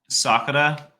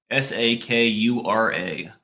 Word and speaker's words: Sakura: question do you guys know that in Japanese Sakura Sakura means cherry blossom I'm going to I